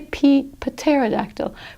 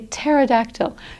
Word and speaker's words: pterodactyl: We don't say pterodactyl. We say pterodactyl because a PT, just the T is pronounced.